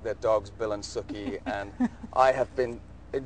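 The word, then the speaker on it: Sookie: talking about her name it's Suki as in cookie and so you know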